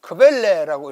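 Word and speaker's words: Quelle: 그래서 마가복음의 외에 또 하나의 자료, 이것을 독일 말로 크벨레라고 읽습니다.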